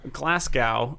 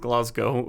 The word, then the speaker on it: Glasgow: of like how americans are always like oh glasgow uh when they uh and this it's like no it's actually pronounced glasgow um like americans say like uh edinburgh but